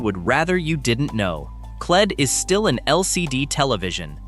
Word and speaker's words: QLED: But, and this is the part that matters, Samsung named QLED to rhyme with OLED on purpose.